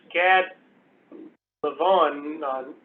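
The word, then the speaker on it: Gad Levanon: This is Gad Levon, that's how you say it.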